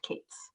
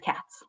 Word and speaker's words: Katz: Katz and Tush, except if she's from Winnipeg, it's pronounced Kate's. We're going to say Mrs. Katz.